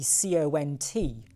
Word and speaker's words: cont: And then for no reason, they went and changed it to be C-O-N-T, pronounced cont, not, well, just make that clear.